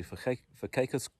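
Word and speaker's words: Verkykerskop: We went up to Verkekerskop. That's the right way to pronounce it.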